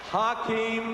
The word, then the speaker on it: Hakeem: welcome please for nba commissioner david stern commissioner hakeem as i've been told to pronounce it tonight i'm here representing millions and